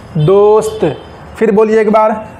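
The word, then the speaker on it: دوست: अब देखिए पूरा स्पेलिंग क्या होगा इसका, दाल वाव पेश दो, सीन साकिन, ते मौकूफ़, दोस्त। फिर बोलिए एक बार, दाल वाव पेश दो, सीन साकिन, ते मौकूफ़, दोस्त।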